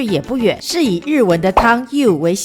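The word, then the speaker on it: 湯: not a far walk The place used the Japanese pronunciation for hot water, you, to make the name I Love U You can really take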